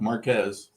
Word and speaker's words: Marques: Am I pronouncing your last name correctly? Correct. Marquez.